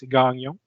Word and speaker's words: Gagnon: Un nom très commun dans sa région, c'est Gagnon. Sauf qu'ils ne disent pas Gagnon, ils disent Gagnon.